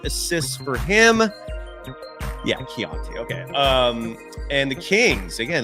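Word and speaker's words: Keyonte: Yeah, Keontae.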